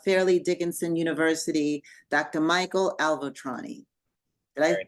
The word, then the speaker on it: Avaltroni: Michael Avaltroni. Did I pronounce that correctly?